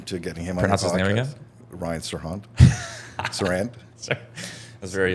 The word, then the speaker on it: Serhant: it so you say it out loud Brian Sirhan Sirhan okay sorry I'm just putting that tea on